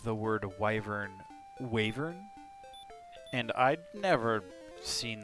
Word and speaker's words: wyvern: wyvern and then i googled it and it's wyvern i was like what why did i pronounce the wavering for 30 years oh okay well that makes